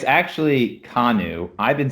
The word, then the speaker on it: Kanu: the way that it's actually pronounced it's actually pronounced kanu but that's so boring so i'm just like you know what i'm just gonna make it can you because it just makes sense so you put